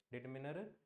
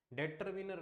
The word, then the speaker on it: determiner: डिटरमिनर एक है ना इसको प्रोनाउंस भी सही कर लिया करो क्या डेटरमिनर नहीं होता यह कई बोलते हैं ना डेटरमिनर डेटरमिनर नहीं होता यह क्या बोलते हैं इसको डिटरमिनर बहुत सारी चीजें ऐसी